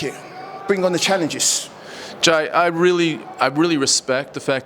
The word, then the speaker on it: Ji: I'm gonna say Jai, but you tell the camera exactly how to pronounce that whole thing. It's Jai TCA.